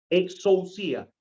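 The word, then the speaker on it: exousia: 27 esta palabra exorcía exorcía es e x o u s y a exorcía así como se pronuncia esta la encontramos entonces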